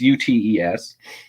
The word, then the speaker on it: Ute: utis i don't know how to pronounce it it's u-t-e-s um and they believe